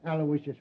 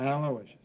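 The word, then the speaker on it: Aloysius: Terrence Alawishas Hogan.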